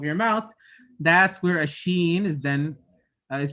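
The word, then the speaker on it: ش: picture of the right the middle of the tongue is raised up to here or somewhere around here and it's raised too close to the top part of the mouth but it's not it's not touching it it's not touching it but it's very close then when you make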